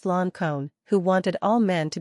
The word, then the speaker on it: Lincoln: of the Rebellion, and the name of Lincoln, pronounced Loncone, who wanted all men to be free and equal, sounded through the room.